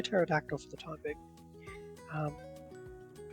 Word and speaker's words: Pterodactyl: and I'll just say Pterodactyl for the time being. I was going to say they all started with T, but the P is silent in Pterodactyl.